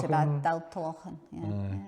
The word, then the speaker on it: Daltallochan: Aye, I'm going to butcher the pronunciation, the Daltalochan. That's not too bad, Daltalochan, yeah, it's not too bad.